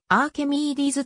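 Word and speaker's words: Arquimedes: シティレッドデビルズ所属ファーストネームのアーキメディスは英語での発音はあーケミーディーズとなっている愛知今日はキャビー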